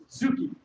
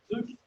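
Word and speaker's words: tsuki: The T is silent. So you just say Zuki. Zuki. Zuki.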